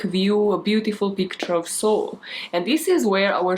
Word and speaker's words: Seoul: the comments and now let us go to seoul that is how you pronounce that city's name as i have googled it to make sure and to south korea